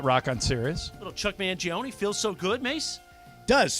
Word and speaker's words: Mangione: Is it an E? I think you pronounce the E.